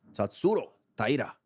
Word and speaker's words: Tatsuro Taira: Tatsuro Taira. Now you got to put that Japanese accent. Tatsuro Taira.